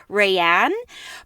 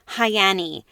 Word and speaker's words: Rayanne: everybody else calls her Rayanne but somebody John B commented on my prediction video that in Portuguese is actually pronounced hayani and I cut I